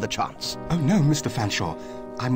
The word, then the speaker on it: Featherstonehaugh: Fanshawe please accept my sincerest apology very well but